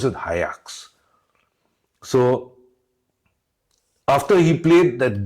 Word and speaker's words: Ajax: I thought it was Ajax, but they pronounce it Ajax.